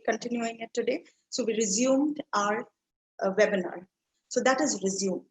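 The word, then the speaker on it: résumé: This is again not an English word. Now, this word is pronounced as resume, right? Resume. Resume is a different English word which means to continue something that you stopped.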